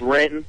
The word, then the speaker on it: Renton: Actually, it's Renton. The N is silent.